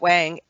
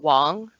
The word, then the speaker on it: Wang: now garrett wang garrett wang um yeah he's talking about it and it's actually his name's garrett wong yes that is correct oh sorry anyway spelled wang pronounce wong correct they they kind